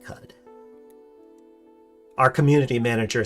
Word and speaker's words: Qud: That's how you say Qud. There's no official pronunciation, but yeah, most of us say Qud.